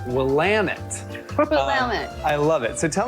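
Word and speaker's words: Willamette: going to start the conversation by getting some pronunciations correct I always thought it was Willet Valley uh that is not the way you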